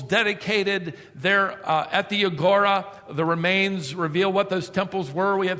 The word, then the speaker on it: agora: timothy uh and silas to go into the agora the marketplace a.g it's spelled o-r-a today we might call it downtown